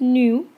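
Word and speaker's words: ν: gets a symbol nu I know it looks like a V but it's actually pronounced nu and you this is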